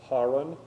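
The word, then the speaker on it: Haran: However you pronounce it, Harin, I think I looked it up. I'm not going to remember that because that's not how we pronounce it. We say Heron, don't we?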